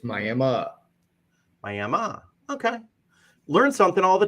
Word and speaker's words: Miami: is fun it is it is spelled just like Miami as in Miami Florida but we have Tribal ground here so it is a tribal name it is May May okay learn something all